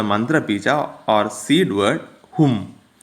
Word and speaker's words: Hum: Hum bija, where the vowel pronunciation is short, is a Shiva bija relating to god of destruction. And with long vowel, it is a Shakti bija relating to the goddess.